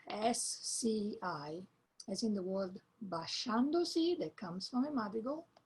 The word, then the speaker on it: basciandosi: And it's spelled with the group SCI, as in the word basciandosi, that comes from a madrigal. Basciandosi, as in English, she.